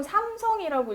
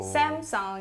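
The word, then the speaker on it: Samsung: 자, 이거 보통 삼성이라고 읽으시잖아요. 네. 그런데 네. 원어민들이 오. 샘성 이렇게 읽는 거 네. 종종 보셨을 거예요.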